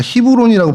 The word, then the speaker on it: 헤브론: 그래서 먼저이 곳 헤브론 그니까 히브론이라고 발음을 하더라고요.